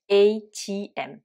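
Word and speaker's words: ATM: alors et im donc les lettres à tm qu'on dit bien sûr avec l'alphabet anglais donc et im qui veut dire automated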